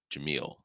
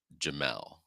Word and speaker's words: Jamil: Her name is Jamil, and I pronounced it Jamel or something like that.